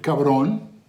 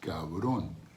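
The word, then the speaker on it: cabrón: So we have our first word, cabron, ka, that's two sounds, the k and the a, ka, and then the v, you spell it as a B, but the Spanish B is a lot softer. You say it, ka, and then the R and the O in the end. So it's cabron.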